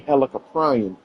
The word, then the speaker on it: Helicoprion: Because it has the word prion in it. So it leads me to believe it's actually Helicoprion. I just want to know if I'm getting my pronunciations right with it or not. That's actually right.